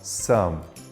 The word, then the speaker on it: some: Se você gosta de pronúncia como eu, você vai lembrar que a letra E não é pronunciada. Então você fala sum.